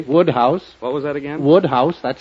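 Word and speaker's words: Wodehouse: here he'd agree Woodhouse what was that again Woodhouse that's how it's pronounced you see I've been making a considerable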